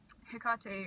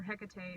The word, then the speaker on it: Hecate: there and also um tecate or Hecate or however you want to say her name um on the altar